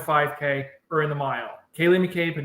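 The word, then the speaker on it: Ceili McCabe: Kaylee mccab yeah yeah Kay that's how you pronounce it Kaye mcab of West Virginia Kaye with a c CI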